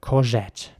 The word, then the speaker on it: courgette: And it's very important to pronounce the G like a J, courgette.